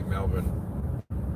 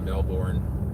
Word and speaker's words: Melbourne: I'm trying to pronounce that city correctly, Melbourne, not Melbourne. That's not how.